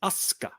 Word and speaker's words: Asuka: The whole thing with Japanese U's are almost never pronounced. Like it's not Asuka, it's Asuka.